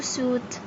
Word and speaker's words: suit: Friend I is silent. As you can see here, I read it as oo. Now let's match the word fruit with the picture fruit. Now let's move to suit.